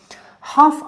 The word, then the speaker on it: half: در اینجا متوجه باشین که تلفظ L در این کلمه half تلفظ نمیشه، یعنی در pronunciation silent است که ما میگیم تنها half. half a half به معنای نصف نصف یعنی اینتا.